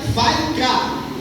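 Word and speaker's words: ויקרא: Então, para os hebreus significa vai cá. A escrita aqui é diferente, a pronúncia aqui é essa que eu estou falando, vai cá.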